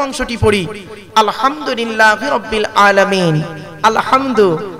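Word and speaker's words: الحمد: পড়ি আলহামদুলিল্লাহি রাব্বিল আলামিন, আলহামদু হাই হতি হাই হাওয়াজ নয়, আলহামদু এ গলার ভেতর থেকে এটা উচ্চারণ হবে, আলহামদুলিল্লাহি রাব্বিল আলামিন মানে হচ্ছে সমস্ত প্রশংসা আল্লাহ তোমার।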